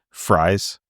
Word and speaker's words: Fries: as mine but uh I've heard everybody pronounce it fries like who does the announcements so I and I he's not like related to me that I know of so obviously it's it's pronounced a little bit differently than my name but um I think